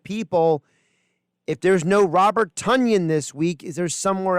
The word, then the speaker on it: Tonyan: about the fact that Robert Tonyan is now Robert Tunyon. I don't know if you saw that. They came out with a clarification of the pronunciation of his name. So Robert Tunyon, like Funyun.